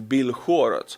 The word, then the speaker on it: Belgorod: Now, my friends, let's go to Russia, Belgorod, or let's say it like the Ukrainians, Belgorod.